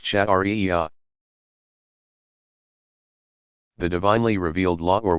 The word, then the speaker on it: Sharia: The outcome of all this study and interpretation is called Sharia, pronounced Shari'iyah.